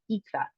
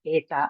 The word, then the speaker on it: eta: So Greek people normally use the modern pronunciation and talk about ita and theta instead of eta and theta.